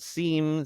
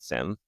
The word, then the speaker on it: SIEM: about the product space they always pronounce it Sim yeah so if you